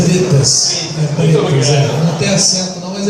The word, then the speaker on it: Bretas: Brett, primeiro que me tira uma dúvida, a pronúncia do seu nome é Bretas ou Bretas? É Bretas.